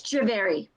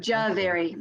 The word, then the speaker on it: Jhaveri: pronounce your last name it's javeri oh javier oh okay yeah ja very kind of like it's spelled right yeah yeah with the with the h being silent right got it i